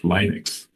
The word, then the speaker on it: Linux: Linux would be the English pronunciation, but Linus's language, mother tongue is Swedish. He's Finn, but he's from the Swedish-speaking minority. Crazy.